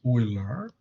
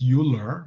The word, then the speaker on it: Euler: one of them is oiler it's not pronounced euler you know some people you learn uh yeah i mean you know it looks like euler but uh ah it